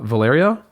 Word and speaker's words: Valerio: 10, The Great uh Valyrio. That's how she pronounces it. Valerio.